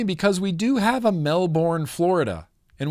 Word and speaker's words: Melbourne: It's funny because we do have a Melbourne, Florida. And we say Melbourne, Florida, unless you're Australian, and then you say Melbourne, Australia, Melbourne, not Melbourne. I'm an American. I say Melbourne.